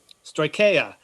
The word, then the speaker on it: Stoicheia: If you want details about the Rebel technology, and Frederick, how do you pronounce it correctly? I'm not even going to try. Stoicheia.